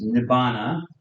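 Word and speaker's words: nibbāna: I'll give it to you in P it's pronounced nibana similar but different Nana I'll use the traditional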